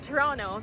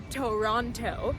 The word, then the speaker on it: Toronto: Pronounced Toronto, not Toronto.